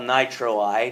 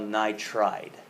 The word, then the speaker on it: nitride: It's not called nitroide, it's called nitride.